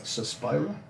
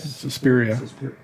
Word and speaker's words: Suspiria: The sidelines like Suspira. I don't know if I'm pronouncing that right. Suspiria. Suspiria.